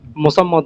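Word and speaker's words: মোসাম্মৎ: আর মেয়েদের নামের সাথে অনেকে বলে এমএসটি, এমএসটি হবে নাকি মোসাম্মদ হবে, কোনটা? মোসাম্মদ হবে।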